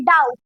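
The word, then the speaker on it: doubt: शक को इंग्लिश में कहा जाता है डाउट। यहाँ पे तो बीच में बी भी आ रहा है लेकिन बी जो है वो साइलेंट है इसको नहीं पढ़ेंगे तो इसलिए हम पढ़ेंगे इसको डाउट। डाउट सिर्फ इनको इसको और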